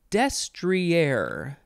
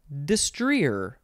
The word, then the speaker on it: destrier: de-stress the next word destrier destrier and the other way is destreer destrier it is spelled d-e-s-t-r-i-e-r destrier that's the the first pronunciation has the emphasis on the first syllable destrier I feel like